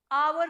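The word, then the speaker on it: hour: कैसा आ रहा है आवर का अ वाला साउंड है पहले एच साइलेंट है तो यहां पे क्या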